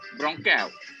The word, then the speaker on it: Ronqueo: How do you spell that, David, once again? Ronqueo. R-O-N-Q-U-E-O.